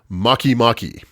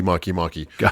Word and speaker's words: Makemake: the of the gods makimaki maki makimaki spelled spelled make make as one word but pronounced probably incorrectly makimaki so let's just start